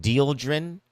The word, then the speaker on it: dieldrin: Some people received flyers or letters about how it is that there's this chemical name, this pesticide called, I think it's pronounced dieldrin, Dieldrin, which was found in water sampling back in 2023, with some reports within the government made in 2024.